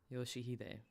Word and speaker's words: Yoshihide: No, that's not how you read those letters. 요시대라고 읽는 거다. Yoshihide. That's how you say it.